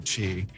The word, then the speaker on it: ki: Life force energy is ki or chi. I went with the K for ki because that's the Japanese pronunciation of it.